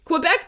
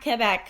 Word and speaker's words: Quebec: don't say it they don't even know how to say it right is yeah not que back quec quec anyway no wrong wrong yeah